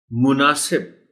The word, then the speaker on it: مناسب: اس کا ہے صفت۔ مناسب میم پر پیش ہے، مناسب نہیں، بلکہ ہم